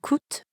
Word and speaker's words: coûtent: Here, coûte ends in ENT, and croissant ends in S. But we don't pronounce those letters at the end, which we know sometimes happens in French.